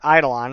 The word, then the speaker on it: Eidolon: Bastille sends his Eidolon in that direction, or Eidolon, it's actually pronounced.